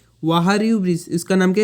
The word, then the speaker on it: Wahrew: वारियू bridge. क्या? लिख लेता हूँ स्पेलिंग, WAHREW।